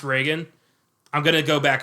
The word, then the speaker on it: Regan: And Regan, it's spelled Regan. It's pronounced Reagan.